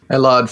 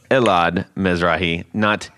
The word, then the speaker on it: Elad: ellard from gearant right you've heard tony mispronounce his name for at least a year and a half i think yeah pretty much yes and uh just so you know it is elad um so everybody